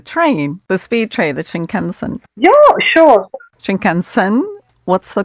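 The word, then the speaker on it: Shinkansen: my audience the train the speed train the shin kenen yeah sure shinen what's the correct pronunciation shinen the bullet train that goes from Tokyo to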